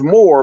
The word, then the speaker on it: myrrh: when he started mentioning the word myrrh, often pronounced more, but it's spelled different, they took that as, oh, this nigga about to figure it out.